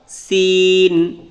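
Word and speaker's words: س: সিন, Shin, সিন, Shin.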